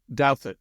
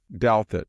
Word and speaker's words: Douthat: How do you pronounce Ross's last name? Ross Douthat. Douthat, yes.